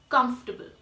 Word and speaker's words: comfortable: it come see me oh and I both are actually silent in this world and you will call it comes table comfortable that is the right pronunciation for the word moving on to the